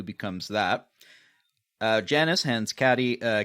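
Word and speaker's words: Cady: that uh Janice hands caddy uh caddy Katie a beautiful I keep I will probably keep making this mistake cuz phonetically it written caddy but okay you did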